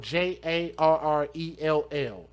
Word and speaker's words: Gerald: But it's Dejhanay and then Gerald, Jarrell.